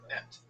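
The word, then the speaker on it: את: Es. Et. Check my pronunciation to be correct. Academic Hebrew. Et.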